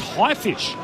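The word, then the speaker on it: Haifisch: Now Rob says it's pronounced highfish and he's German for shark and it's about camaraderie in the face of adversity and the genre is called you douche heart.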